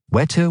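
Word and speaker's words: Whetter: through his son's wixeray Fortes pronounced wetter was incurably lazy and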